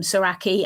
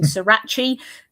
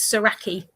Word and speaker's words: Soracchi: him Saraki and also that we pronounce it right because I hear a lot of people saying Srirachi that's not it that's a hot sauce. Um and yeah, so it's it's Saraki.